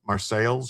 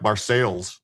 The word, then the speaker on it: Marseille: We would call it like Marseilles in where I come from. We call it Marseilles, but they call it Marseille.